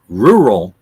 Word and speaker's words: rural: The incorrect way is rural. Rural. And the correct way is rural. It's not ru, it's rur. It's not rural, it's rural.